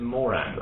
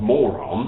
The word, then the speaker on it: Moran: I don't even know how you pronounce his surname, whether it's Moran or something, so it's Moran. I think it's Moran. Moran. Not moron. No, he wouldn't want that. That's like the word moron.